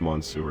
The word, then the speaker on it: Monsieur: It's actually pronounced Monsieur, not Monster.